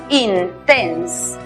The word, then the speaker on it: intense: En la palabra intenso, está compuesta por dos sílabas. La primera sílaba es cerrada porque termina en consonante, aplicamos el sonido cerrado de la I, in. La siguiente sílaba termina en E muda. Antes hay dos consonantes, aplicamos el sonido cerrado de la E, tense, intense.